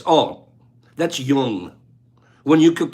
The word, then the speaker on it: Jung: correct no junk that young you say young you don't say uh Jung no young that's when like